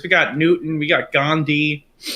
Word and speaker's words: Gandhi: got Newton we got Gandhi pronounced ganji which is pretty funny uh and in they